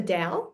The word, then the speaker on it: Tao: of thing so the the Dow is spelled t a o oh I I didn't know that was how it's pronounced yeah DSM yes ah